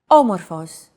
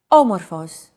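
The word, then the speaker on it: όμως: a language is intonation did you notice the accent mark above the first letter there is only one type of accent mark in modern Greek the acute accent it adds stress to a syllable a stress syllable usually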